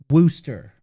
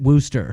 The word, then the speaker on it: Wooster: like people calling worcester wooster booster where i come from worcester ohio everyone calls it wooster so liz says key